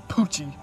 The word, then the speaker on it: Poochie: His name is Poochie. Poochie? Yeah, man. It rhymes with Toochie, like your butt.